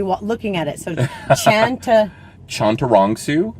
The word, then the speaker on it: Chantarangsu: have to be looking at it so chanter chantarongsu chondurongsu yep that's not so hard yeah i know